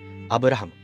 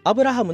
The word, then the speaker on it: アブラハム: されるのがアブラハム実際の名前は最後の m あまり強く発音しない日本語でアプ